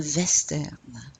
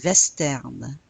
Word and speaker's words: western: Un western. Un western. You pronounce the W like a V here.